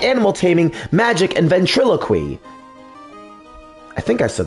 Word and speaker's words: ventriloquy: animal taming, magic, and ventriloquy. I think I said that right. Ventriloquy. Yeah, because ventriloquism. Yeah. So, that that should be the right way to pronounce it.